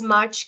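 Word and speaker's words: mars: silent s is sounded another is mar you say Mar a lot of people pronounce it as Mar but wrong here it's m so again the S is sounded August in French is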